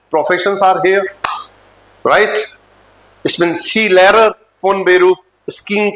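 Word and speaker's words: Skilehrer: हो स्किंग सिखाते हो तो शी लरर एस के आई एल ई एच आर ई आर होता है लेकिन हा पर के साइलेंट रहता है आपका ठीक है इन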